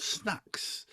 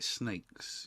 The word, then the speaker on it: Snayx: Dyke said to me actually you say it like snakes you know so even though we put brackets snakes in our Instagram bio we still get snacks all the time I think people